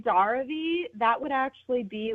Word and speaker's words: Daravi: I put the emphasis on the second syllable in your last name. Is it Daravi or is it Daravi? You're not wrong either way. So okay. It's Daravi.